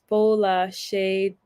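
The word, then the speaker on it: Folashade: It's pronounced Fola Shade.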